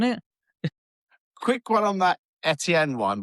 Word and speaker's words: Etienne: Etienne is now Travis Etienne cuz that's how it would be pronounced in Creole.